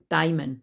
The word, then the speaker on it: daimon: Daimon, sorry, is how you say it. No daemon, that's like the devil.